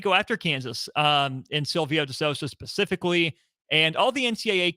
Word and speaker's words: De Sousa: It looks like De Sousa. It is actually pronounced De Sousa, though.